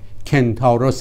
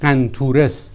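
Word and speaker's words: Kentauros: هم اختران یا صورتی که نزدیکترین ستاره در آن قرار دارد نامش کنتاروس است. این نام یونانی را در عربی گرفتند و قنطورس تلفظ می کنند.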